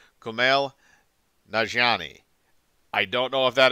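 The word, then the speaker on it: Kumail Nanjiani: more veteran actors uh camille nanjiani um i don't know if i'm pronouncing that correctly i apologize if i am not i am horrible at pronouncing names uh that are not exactly familiar uh with me but i think it is uh pronounced kumail najani i don't know if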